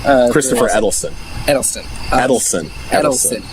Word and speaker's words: Eccleston: Edelstein. Christopher Eccleston. Edelstein. Edelstein. There's no T in there. Or, no, not Edelstein. Eccleston. It's C's, not D's.